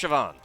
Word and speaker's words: Siobhan: Siobhan? Siobhan. It's pronounced Siobhan.